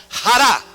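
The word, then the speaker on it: χαρά: Mire, la palabra gozo en el griego se pronuncia jara, J-A-R-A, con una tilde bien larga.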